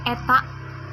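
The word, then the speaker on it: η: Nah, secara matematis efisiensi disimbolkan dengan, ini bacanya eta, ya.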